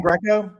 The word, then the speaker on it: Greco: Tom Greco. Write it down. I don't know how to spell it either.